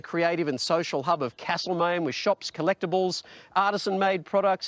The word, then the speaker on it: Castlemaine: me alex and sj there is no r in castle maine will you do whatever